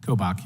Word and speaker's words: Kobach: Attorney General Kobach, am I getting that close to pronunciation, sir? Kobach, yeah.